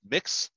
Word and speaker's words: Mx: a gender neutral honorific it's spelled MX and it's pronounced mix like I'm mixing a bow right same